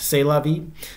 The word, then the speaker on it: C'est la vie: I'm told it's actually pronounced C'est la vie.